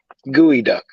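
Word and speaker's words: geoduck: I'll tell you right now because you're gonna spell it wrong it's g-e-o-d-u-c-k G what g-e-o-d-u-c-k gooey duck it's like how how is that disgusting I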